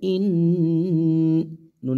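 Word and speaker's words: إنا: উপর কি আছে তাসদিদ নুনে এবং মিমে যদি তাসদিদ হয় তার ডান হরফের যদি হরকত হয় ওয়াজিব গুনাহ পরিবর্ত হয় তাহলে ইন্না নুনের উপর জবর জবরের বাম পাশে খালি আলিফ মদের হরফ মদের হরফের উপর চিকন চিহ্ন বামে হামজা মধ্যে মুনফাসিল তিন আলিফ টেনে পড়তে হবে ইন্না হামজা নুন জবর আং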